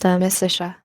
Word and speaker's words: Amicitia: We've finished Livy and De Senectute and are now engaged with De Amicitia, pronounced Amicitia.